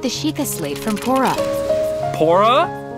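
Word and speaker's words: Purah: sheikah slate from pora pora it's pronounced what is that i thought it was pura my bad your highness what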